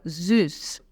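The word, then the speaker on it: süß: né Vamos lá vamos começar com a palavra zus preste bem atenção na pronúncia o z o s tem som de z o u contema tem som de u boca de um falando i i então fica zus esse S set aí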